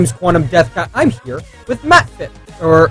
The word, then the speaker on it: MachtFISCH: Like, the German way would be MachtFISCH with the soft CH, but okay.